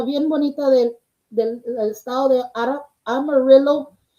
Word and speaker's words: Amarillo: Aquí está una artista bien bonita del estado de Amarillo. I was gonna say Amarillo. That's how you say it, girl. I know when I say it, like, no, that's a color. No, it's Amarillo, Texas.